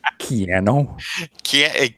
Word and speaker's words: Keanu: It's pronounced Keanu. Like piano? Yes.